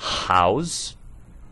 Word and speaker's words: house: Assim como house possui H aspirado, nós ouvimos o som de um R, uma consonant.